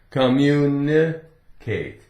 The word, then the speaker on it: communicate: Just like when you get to the N, communicate, right? You hear one N. There is only one N.